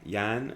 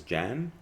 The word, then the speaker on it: Jan: i see for example english speakers pronounce the german or czech name yan as jan because i would say it's not that difficult to learn and to change to say yan instead of jan but you know i